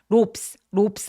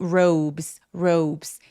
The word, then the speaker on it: robes: their robes R 소리니까 입술도 쭉 내밀고 robe라고 합니다. ropes 아니고 robes. 이거 무슨 말이에요?